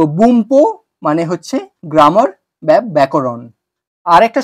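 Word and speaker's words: 文法: দেখাবো আমি লিখেছি বুনপো বুনপো কিন্তু উচ্চারণ হবে বুম্পো বুম্পো কেননা এন পি এর আগে এসছে তাই এই এন টা ন শব্দে পরিণত হয়েছে সরি ম শব্দে পরিণত হয়েছে তো বুমপো মানে হচ্ছে গ্রামার ব্যাকরণ আরেকটা শব্দ তোমাদের দিয়ে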